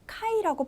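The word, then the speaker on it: 回: 같아요 그다음 옆에 보실게요 몇 회라고 해서이 회를 카이라고 발음을 해요 그래서 까라고 하는데요 1회라고 할 때 이까이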